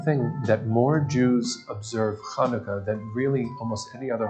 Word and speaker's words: Hanukkah: game to play the name hanukkah can be a challenge especially in an american vernacular because the sound isn't there so when you try to spell it some people spell it scientifically where h stands for the sound but it's not it's actually ha so if you're being very careful it's hanukkah but that's even hard